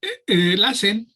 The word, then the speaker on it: LACEN: ¿Cómo lo debemos pronunciar? LACEN, está bien.